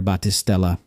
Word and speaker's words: Baptistella: What's the address there, Battistella? Yeah, my name on Instagram is with an S, Baptistella. There's a silent P and two L's, that's my name.